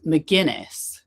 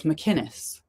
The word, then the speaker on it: McInnes: because it kept they he kept saying it as McInness and she said, "Yeah, it's McKinnus and he still is saying her name wrong."